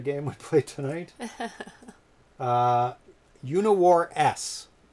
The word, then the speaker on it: UniWarS: would play tonight uh uniwar s is how it's actually pronounced there is a space it's not universe so there's three new